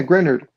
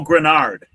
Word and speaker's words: Grenard: Grenard. Yeah. Green. So, he got traded yesterday. Uh, scorekeeper, you're the pronunciation person. G R E N A R D. Oh, Granard.